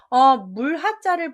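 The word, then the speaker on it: 河: 물하자를 보시면 물수에다가 오를가를 써서 원래 황하강을 지칭하는 고유 명사예요. 그래서 물하, 조심하실 게 하 발음으로 바뀌어버린 거죠.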